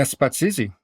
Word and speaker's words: Spatsizi: and I'm most certainly going to butcher this pronunciation, but Spatsizi? Oh, Did I get that right? Yeah, Spatsizi, red goat.